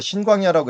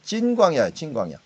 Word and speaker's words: 신광야: 여기서 말을 우리가 신광야라고 했는데 원래는 찐광야예요. 찐광야니까 우리나라 발음이 즈 발음 이런 발음들을 갖다가 다 스 발음으로 번역을 해버리는 바람에 좀 골치 아파요.